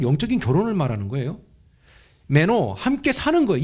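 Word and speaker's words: μένω: 근데 이게 말 그대로 거하다라는 단어가 헬라어로 메노라고 읽는데요.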